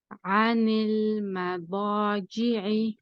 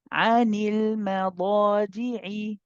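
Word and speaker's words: عَنِ الْمَضَاجِعِ: So after saying the heavy dad, we need to make sure that the jim is nice and light, okay? So here we say, Sister Isha, anil madadi'i. عن المضاجع.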